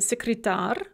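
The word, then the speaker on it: секретарь: secretar a male secretary when we add an ending we actually add a syllable and that stress is going to shift onto that syllable that we add so slovak dictionary becomes slavary dictionaries secretary male secretary becomes secretary male secretaries another thing that shows up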